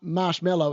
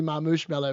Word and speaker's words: Marmoush Mello: It's not Marshmallow, it's actually Marmoush Mello, which now that I think about it is actually quite a cool name.